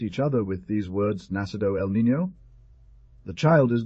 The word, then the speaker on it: Nacido: other with these words, Nacido el Niño. The child is born. Note 8040. The law of least effort causes the D to disappear in pronunciation, and usually one says, Nació el Niño.